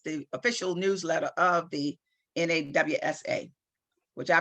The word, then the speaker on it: NAWSA: okay 1895 she joined nawsa i pronounced it nassau the white voters organization